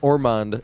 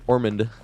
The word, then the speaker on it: Ormond: It's not Ormond, it's Ormond. I asked my GPS and that's how it's pronounced it.